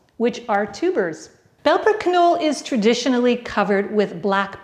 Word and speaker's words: Knolle: this cheese it's belper the k is not silent the canola word is almost like how we pronounce canola as in canola oil